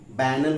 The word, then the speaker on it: banal: कोई भी चीज़ जो नीरस हो, बोरिंग हो, उबाऊ हो, वो बैनल होगा और बेनल। इसकी प्रोनाउंसिएशन जो होगा वो क्या? बैनल और बेनल।